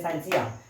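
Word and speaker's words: scientia: है साथियों कि साइंटिया, अर्थात हम इसको पढ़ते साथियों टी साइलेंट होने की वजह से पढ़ते हैं साइंसिया।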